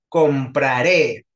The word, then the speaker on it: compraré: luna por favor dime compraré es aguda porque tiene sílaba tónica hasta el final entonces compraré lleva tilde Luna o no Exacto s lleva tilde porque acaba con vocal compraré Sí muchas gracias Luna